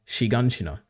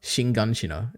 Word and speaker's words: Shiganshina: Anyway, that's my, I have one final note, which is actually it's pronounced Shiganshina, not Shinganshina, as Bacon says in this video.